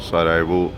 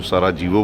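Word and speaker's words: Sarajevo: आप देख रहे हैं सारा वो बहुत सारे लोग इसको सारा जीवो बोलते हैं जे जो है यह साइलेंट है यहां पर इसको सराव बोला जाएगा कंट्री नेम इस बोस्निया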